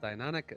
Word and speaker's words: Deinonychus: Yes, Deinonychus. Look at you with the correct pronunciation.